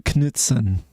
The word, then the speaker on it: Knutsen: Kjetil Knutsen.